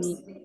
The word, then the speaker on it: knee: N and E will have only two sounds in And knee. K is silent.